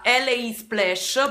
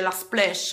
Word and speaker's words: LA Splash: vedete, è Criminal della LA Splash, perché non si dice la Splash, LA Splash, ed è questa.